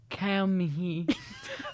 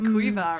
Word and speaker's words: Caoimhe: Say it in how it's spelled. Kaomihi. Kaomihi. Kaomihi. That's Quiva, right?